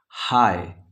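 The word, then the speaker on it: high: जो है साइलेंट है हाय इसमें जी और एच यानी जी का ग और एच का ह नहीं आ रहा है तो ये हो गया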